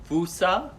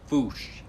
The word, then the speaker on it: fossa: going to talk about fossas sometimes pronounced fusa or sometimes pronounced foosh different pronunciations from different people all over the world this animal is unique